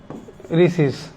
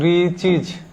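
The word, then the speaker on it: riches: তাহলে যেমন দেখেন রিস, রিস থেকে রিসিস, রিসিস, রিসেস না কিন্তু রিচিজ, মানে সম্পদ বা ধন।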